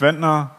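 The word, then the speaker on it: Trenz: my name is retina that's retina or for the non German native speaker it's pronounced like this huh and of course you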